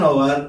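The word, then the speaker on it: hour: এইচ দিয়ে শুরু যেহেতু এইচটার উচ্চারণ সাইলেন্ট অথবা অ এর মত হচ্ছে তাই সেক্ষেত্রে আমরা এন বসবো যেমন এন আওয়ার N honest man এন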